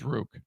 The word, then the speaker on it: Rook: It's Rook. Yeah, rhymes with Duke.